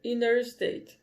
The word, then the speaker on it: interstate: Então, você pode ouvir interstate, mas é muito mais comum ouvir inner state.